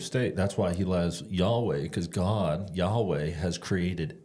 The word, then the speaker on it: Yahweh: Nobody knows how to pronounce it because they didn't use vowels, but it works out to YHWH, and Hebrews read from right to left. We read from left to right. So that's God's name when he says, hey, this is my name. And we pronounce it as Yahweh.